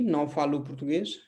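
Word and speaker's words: não falo português: कोई भी शब्द अगर एस पे खत्म होता है तो उसका उच्चारण भी, एस का उच्चारण भी कैसा होगा? एस एच जैसा होगा, श जैसा होगा। तो नौ फालू पुर्तगेज, सो मैं पुर्तगाली नहीं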